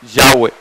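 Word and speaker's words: Yahweh: nos han enseñado que la pronunciación correcta es yagüe ustedes ven en ese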